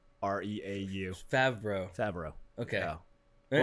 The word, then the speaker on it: Favreau: It's Favreau.